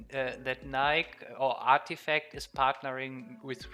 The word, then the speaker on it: Nike: So the Greeks say Nike. It's Nike. Nike, yeah, I know it as Nike. At least everyone in Germany says Nike. We do a lot of English pronouncing wrong, but I feel good at this one.